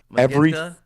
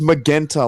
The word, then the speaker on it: Magenta: Magenta? Yeah, he says Magenta like the fucking robot man from Universe 6.